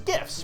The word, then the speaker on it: GIF: cursed images video was gifts pronounced with a gust sound I will say this again but if you pronounce it like jiff you were fucking wrong you peanut butter sucking